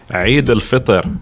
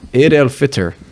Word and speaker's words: Eid al-Fitr: Eid al-Fitr, which comes right after Ramadan. Okay, Eid al-Fitr.